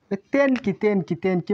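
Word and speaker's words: 天気: দেন এটা হবে দেন কি হবে না, তেন কি মানে আবহাওয়া।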